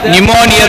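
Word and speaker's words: pneumonia: ए repeat this word अ silent letter P इट्स नॉट अ निमोनिया इट्स अ निमोनिया the spelling is पी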